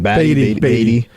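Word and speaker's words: Baty: Beatty.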